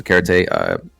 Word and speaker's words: Karate: And our other Diamond One, Karate, that's how you pronounce his name, by the way, Karate.